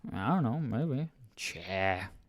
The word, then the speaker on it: tja: So this next one is cha. I'm going to put a few more A's, sort of unofficial spelling, but just to make a point on how it's pronounced.